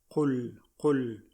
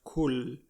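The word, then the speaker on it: قل: So for non-Arabic speakers, this is a difficult letter to pronounce. Qa. Qul. So you try your best to practice this letter because a lot of times it comes off as kul, which means different meaning altogether.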